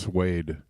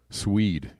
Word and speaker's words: suede: what did I hear somebody somebody pronounced suede swed yesterday I was like you never heard the word sued before I don't know what's